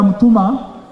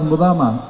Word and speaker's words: Mutuma: Governor Mutuma, initially I pronounce it as Mudama.